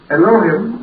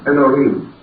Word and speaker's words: Elohim: We generally pronounce that as Elohim, or more perhaps correctly, Elohim.